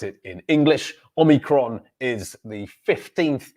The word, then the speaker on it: Omicron: And the pronunciation is Omicron. Omicron. Omicron. And that's certainly how we pronounce it in English. Omicron is the 15th letter of the ancient Greek alphabet.